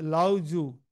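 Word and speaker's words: Lao Tzu: এটা উচ্চারণ হবে লাও জু, টিটা উচ্চারণ হয় না।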